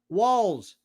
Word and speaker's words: Walz: Walls. I'm going to call him whatever I want. God. What? Spell it. W? Walls. Like walls, or the walls are coming in.